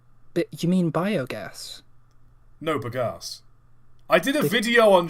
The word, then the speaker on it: bagasse: No, bagasse. I did a video on sugarcane burning locomotives, Mike. I know what I'm talking about. What? Okay, it sounds like you're saying big ass. Bagasse. It's how it's spelled.